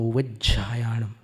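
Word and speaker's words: उवज्झायाणं: नमो उवज्जायाणम, वहाँ पर झ का उच्चारण कभी कभी छ जैसा लगता है, और कभी कभी उवज्जायाणम बोलते, झ में य मिला करके कुछ लोग उच्चारण करते हैं। नमो उवज्जायाणम, झा बोलने में पता नहीं क्या आनंद आता है, वो झा है, झा। और कुछ गुजरात साइडर्स जो हैं वो झायाण झ जैसा बोलते हैं वो।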